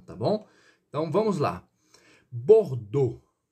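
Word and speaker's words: Bordeaux: bom então vamos lá bordou pronuncia-se dessa forma você vai ver aqui a escrita ali e a u x deve ser às vezes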